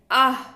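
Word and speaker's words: aah: अगला है आह, यानी कि डबल ए एच, इसका उच्चारण आह के रूप में होता है, और ये भय को दिखाता है।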